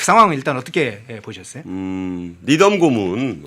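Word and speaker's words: Needham: 니덤 고문, 네. 니드햄이라고 부르는 분도 있고 니덤이라고도 부르는데 미국 발음은 니덤에 가깝습니다. 뭐 편한 대로 보시죠.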